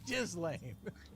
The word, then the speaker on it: Ghislaine: her name is Jiz Lane.